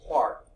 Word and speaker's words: Clerk: James Clerk Maxwell but you know the Scots pronounce things differently it's pronounced Clark James Clark Maxwell first described the